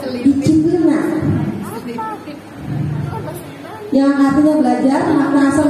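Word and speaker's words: disciplina: Ya, disiplin berasal dari bahasa Latin disiplina. Bacanya gitu. Bisa disiplina.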